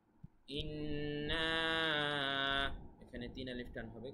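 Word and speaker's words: إِنَّا: ইন্না আ'তাইনাকাল কাউসার। ইন এখানে কিন্তু ওয়াজিব গুন্না হবে, কেননা নুনের উপরে তাসদিদ আছে। ইন্না এখানে তিন আলিফ টান হবে, কেননা তিন আলিফ টানের চিহ্ন আছে।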